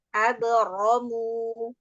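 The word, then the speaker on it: أبرموا: Pengucapan ro itu yang fathah-fathah memang harus terangkat. Abro gitu ya. Angkat pangkal lidahnya. Abaramu Ya, abaramu lagi amran tenggorokannya. Abro, abromu.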